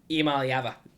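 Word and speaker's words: Iamaleava: How do you pronounce his name? I am. Imaliava. Beautiful. This guy, I mean, he just covers up our mistakes so well. Nico Imaliava.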